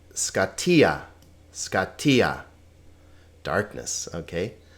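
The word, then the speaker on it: σκοτία: its own syllable scota again pay attention to the accents not scaa not scottia but scatia scatia Darkness okay F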